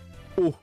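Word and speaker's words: を: C'est le O. C'est cette particule-là. Qu'on justement, quand on écrit les hiragana, t'as le wa T'as le O et t'as le N. Qui j'ai remarqué que donc cette particule là, souvent, je sais pas pourquoi, peut-être à cause du bois, c'est écrit WO.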